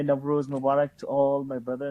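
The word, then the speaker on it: Nowruz: Navroz is a Persian word meaning beginning of, sometimes pronounced as Navroz or Nairoz or Navroz.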